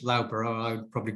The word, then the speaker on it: Loughborough: In 1983, in my university, which you pronounce Loughborough, I would probably call it Loughborough, we had the second women's rugby tournament.